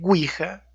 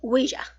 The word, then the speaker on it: Ouija: Puede ser, pero bueno, la Ouija también viene de un francés que es oui, que quiere decir sí, y del alemán ja, que también quiere decir sí. Pronunciado Ouija. Ouija.